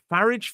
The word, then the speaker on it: Farage: Nigel Farage. Farage. Yes. I always call him Farage and rhyme with garage, but never mind.